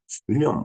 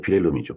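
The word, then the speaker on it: Wilhelm: 윌리엄 5세인가요, 그때? 근데 이제, 어, 윌리엄이 아니라 빌헬름이죠, 독일 발음으로. 독일의 재통일은 동독과 서독이 합쳐진 것을 이야기하는 거죠.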